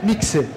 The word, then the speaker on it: mixe: mas de fato existem por exemplo mixe que significa geada é sempre KS nunca o som de x que a gente tá